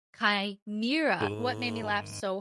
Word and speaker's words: Chimera: I want to acknowledge my pronunciation of Chimera. So, I had to look it up. I didn't know. Looked it up and it is Kimra.